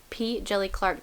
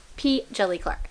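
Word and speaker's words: P. Djèlí Clark: it so it's jelly p jelly clark the d is silent okay p jelly clark so this is a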